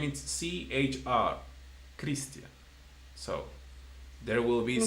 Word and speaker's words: Christian: Okay, so as you could see, the H will never have a sound unless it's after a C, where then, yes, it will change the pronunciation. Like my name, for example. My name is CHR, Christian.